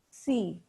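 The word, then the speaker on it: 呬: associated with the heart c pronounced like sir with a long slow exhale which is associated with the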